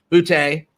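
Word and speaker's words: Boutte: without question they're two best players keishan booty booty rhymes with a twofey and uh and um uh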